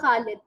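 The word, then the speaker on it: خالد: तो कहती ये जो ख वर्ड है ना, ख ख खालिद, और उसने मुझे खालिद बोल के दिखाया। कहती ये वर्ड प्रोनाउंस करने में मुझे सबसे ज्यादा प्रॉब्लम हुई।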